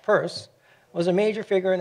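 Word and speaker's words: Peirce: of the astronomical journal purse and it really is pronounced purse was a major figure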